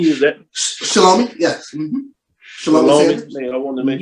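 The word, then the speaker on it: Shelomi: Shalomi. Man, I wanted to make sure I pronounce it.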